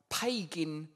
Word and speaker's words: pagan: They say that architecture echoes our pagan rituals. Pagan, it doesn't rhyme with Fagin, does it?